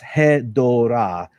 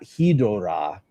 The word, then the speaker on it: Hedorah: so gatekeepy, but basically the word is Hedorah, and it's not Hedorah, which would mean something entirely different and spelled entirely different in Japanese. So Hedorah, Hedo means something sludgy, I think. Hedorah? Yep. I think it is. Hedorah. So essentially, the Japanese name is Hedorah, and I said it wrong because of the dub.